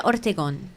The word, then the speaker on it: Ortegon: I have to say it like with a Spanish. Ortegon.